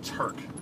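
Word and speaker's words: Tuerck: a dude named Ryan Turk. He's a drift car dude. His last name is spelled T U E R C K. This is very strange spelling. Anyway, Ryan Turk, he's a drift car dude.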